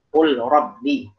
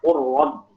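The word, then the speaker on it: قُلْ رَبِّ: Qul rabbi. Ya, qul rabbi dibacanya qur rabbi. Langsung dimasukkan kepada ra.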